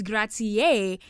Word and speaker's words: grazie: know, buongiorno, buonasera, um grazie. So we first came in saying grazi. I feel like that's a very common funny joke that everyone says but it's grazie and you know, now